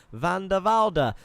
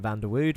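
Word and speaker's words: Van de Velde: olecki says go alexander van de valde um i'm gonna say his name properly forever now because i've realized i've been calling him van der wude but it's not a problem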